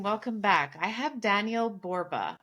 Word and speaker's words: Borba: I have Daniel Borba. That's how I pronounce it, right? That's right.